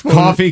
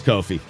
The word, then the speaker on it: Kofi: illinois illinois again illinois coffee cockburn coffee i hate when that happens oh it is kofi yeah cockburn sounds painful